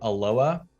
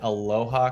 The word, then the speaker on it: Aloha: the west side is a little suburb called aloa but it's spelled aloha so i hear people say aloha quite a bit if they're not from the area it's exactly you know it's spelled exactly the same way as aloha a-l-o-h-a uh but i don't know here here in portland uh we call it aloa for some reason so